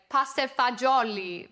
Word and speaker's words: pasta fagioli: And my father will say, pasta fagioli, pasta fagioli.